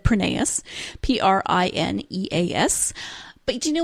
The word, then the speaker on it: Prineas: And she says it is Prineas. It is Greek. And actually in Greece, they would pronounce it Prineas. But when her husband's family emigrated, they changed it to Prineas.